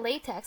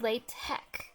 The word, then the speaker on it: LaTeX: latex like they were like no it's not latex it's latch like some people pronounce it lot lot Tech too or tech